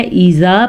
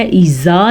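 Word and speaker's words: إذا: کا دھیان رکھنا ہے، ایزا پڑھنا ہے، ایزا نہیں پڑھنا کیونکہ یہ زال ہے، زا نہیں ہے، ٹھیک ہے۔ واللیلی عام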